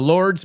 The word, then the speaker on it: lord: Lord rhymes with sword.